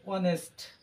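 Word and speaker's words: honest: বহিব এ উচ্চারণ হইছে অনেস্ট এইচ এর উচ্চারণটা সাইলেন্ট আছে আর ইয়া হরস এইচ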